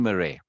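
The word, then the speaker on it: Marais: that's his name Eugene Murray it's pronounced Murray right uh the soul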